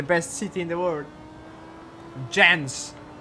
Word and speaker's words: Jens: Jens. Yes, how this is how you are supposed to pronounce his name, Jens.